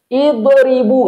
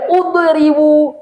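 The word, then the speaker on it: اضربوا: Yadribu. Idribu, nggak boleh udribu, adribu, idribu, idribu.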